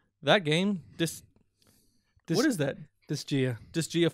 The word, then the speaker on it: Disgaea: Disgaea 5? Mm-hmm. Disgaea 5. That's how it's pronounced, actually. That's Disgaea 5.